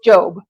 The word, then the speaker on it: Job: word job but because it's a name it's pronounced job so job 37 14 and that means it's